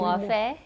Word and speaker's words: Muofhe: And I think it's most apt in our first one of this series is that we have Mulanga Muofhe, am I pronouncing it correctly? Muofhe, yeah.